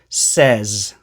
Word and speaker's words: says: this it's actually pronounced says the vowel sound in says is the same as the vowel sound in red bed or said here are some examples